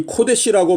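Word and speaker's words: קֹדֶשׁ: 여기에 나오는 이 거룩한, 요것은 히브리어로 코데시. 자, 이 코데시라고 발음을 하는데 우리 한글 성경에는 이 코데시가 가데스라고 번역이 되어져 있습니다.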